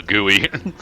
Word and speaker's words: GUI: going into hardcore nerd territory and it's actually pronounced gooey is that GUI yeah well cuz I'm thinking